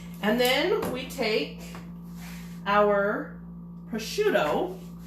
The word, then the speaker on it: prosciutto: And then we take our prosciutto, however you want to pronounce it. Maybe it's different anywhere you're at, but it's prosciutto.